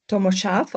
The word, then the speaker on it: Tomo Sarf: World Mountain Running Association, Tommo Sharf. I hope that's the right pronunciation of your name. Yes, thank you. That's perfect. Yeah, it's perfect.